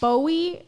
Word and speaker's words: Bowe: you guys think okay and Dante Bowie is that is how he pronounces in it I never